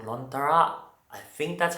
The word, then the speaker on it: Lontara: It's called Lontara. I think that's how it's pronounced.